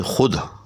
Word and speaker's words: خود: نہیں۔ چنانچہ اب وہ واو معدولہ کی مثال جیسے خود، اب دیکھیں کہ خود جو ہے خے واو دال 3 الفاظ پر